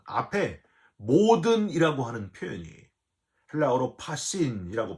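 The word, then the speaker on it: πᾶσιν: 소유를 버린다는 거는요, 참 어렵고 힘든 일인데, 이 33절에서 더 부담되는 거는 앞에 모든이라고 하는 표현이 헬라어로 파신이라고 발음하는데, 하나도 남김없이 전체를, 그런 의미예요.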